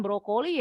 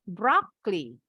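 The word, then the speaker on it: broccoli: tapi kalau ada brokoli bacanya dalam bahasa Inggris bukan brokoli Ya tapi brookly Head of Brock Lee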